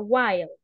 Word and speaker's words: while: This word se pronuncia while, okay?